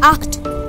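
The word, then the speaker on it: acht: for zebra zeban and it is called act in this also you have to give h sound more act and nine is called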